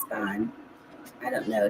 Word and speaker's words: Spahn: Maybe they say it's Spahn. I don't know. No, they do the eh. So it'd be Span.